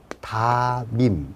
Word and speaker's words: 담임: 가장 대표적인 예가 담임 이걸 적어놓고 어떻게 될 거냐? 그냥 연음입니다. 다밈 이런 거.